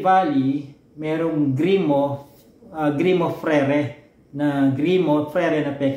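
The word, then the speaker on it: frères: Parang gmo parang ganon yung frere may s sa dulo y freres kung Babasahin mo siya kada letra pero silent s siya frere ganon siya in in in in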